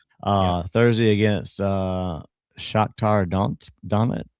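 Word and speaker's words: Shakhtar Donetsk: Uh Thursday against uh Shaktar Donsk Dit. How do you say that? Shaktar Donetsk.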